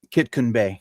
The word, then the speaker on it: Kitkun Bay: Kitkun Bay.